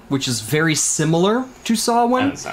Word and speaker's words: Samhain: Spelled Samhain, of course, but it's pronounced Samhain. Or, you know, each little different culture has a different way of pronouncing it. You know, Sawe or Suin or whatever.